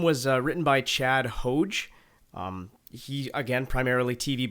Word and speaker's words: Hodge: interesting that you would pronounce his name chad hodge you wouldn't say hajj is this a canadian